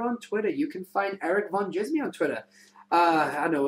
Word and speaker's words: Erik Van Djismie: m i e and the D is silent you've got the geek